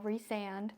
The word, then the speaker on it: Rhysand: I'll go ahead and put the full name for y'all, Rhysand. Yes, that is how you say it.